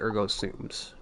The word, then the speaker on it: Ergo Sum: is my dupes on Ergo Sums. I recently learned that it's pronounced Ergo Sum, even though I'm like inclined to call them Ergo Sums.